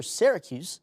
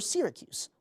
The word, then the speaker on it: Syracuse: We know it's either Syracuse, the way I just pronounced it, or Syracuse, like its namesake overseas.